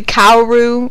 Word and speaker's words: Kaoru: I'm probably saying that in a way that will make people hate me, but that's how I usually pronounce it. Koru, some people say Kaoru. I hate Kaoru, but I say Koru.